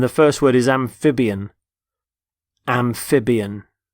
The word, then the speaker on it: amphibian: first word is amphibian amphibian notice the stress on the middle syllable amphib amphibian they're animals such as frogs